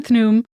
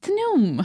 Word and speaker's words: Khnum: just say it again thn yay I love it it's interesting because it's spelled k h n u m but the KH is sort of pronounced in a like a th love it so we